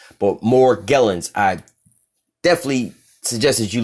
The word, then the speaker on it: Morgellons: call it Morgellons disease but Morgellons some people pronounce it more jealous but Morgellons I definitely suggest as you look this [